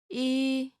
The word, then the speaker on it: 이: Your first vowel is E. 이, This is pretty easy, right?